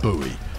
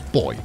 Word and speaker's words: buoy: on pronouncing things with buoy you're wrong it's boy yes I know it's pronounced exactly the same way as the as the gender based boy but no is pronounced boy not buoy you sound silly when